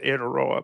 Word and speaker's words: Aotearoa: of mine who is in, I think it's pronounced Aotearoa, but New Zealand, about the screaming memes who were leading the anti-trans thing.